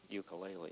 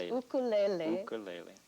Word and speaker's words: ukulele: the techniques oh actually i'm mispronouncing ukulele aren't i yes you are it's ukulele ukulele it's a hawaiian word and uku is the hawaiian word for flea and lele is for jumping so a jumping foot